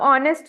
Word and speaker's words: honest: अब ऑनेस्ट है तो ऑनेस्ट है तो उसमें भी एन लगेगा। एन आएगा। एच साइलेंट हो गया, ऑनेस्ट आ गया।